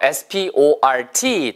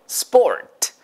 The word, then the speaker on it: sport: sport. S 다음에 나오는 P 발음 이제 강조하지 않아도 되겠죠. 절대 스포트 아니고 예, 스포츠도 아니고 뿌 발음이니까 sport. S 다음에 나오는 P는 뿌 발음이더라. 자, 해보세요. sport. 됐죠? 참고로요, 나는 스포츠를 좋아합니다 라고